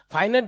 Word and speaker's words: finite: আচ্ছা, ফাইনাইট তাহলে আহনাফ একটু স্পেলিং মিস্টেক, ফাইনাইট না, এটা ইয়া হবে, প্রোনাউন্সিয়েশন হবে ফাইনাইট, নট ফিনাইট, ঠিক আছে, ফাইনাইট।